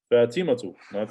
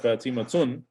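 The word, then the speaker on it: فاطمةُ: Okay, Zainabu, Aminatu, Ammarun, Sa'idun, Fatimatu, not Fatimatun, it's Fatimatu, Maryamu, Aliyun, male name, Aliyun, Khalidun, okay, Abbasun, is Aishatun or Aishatu?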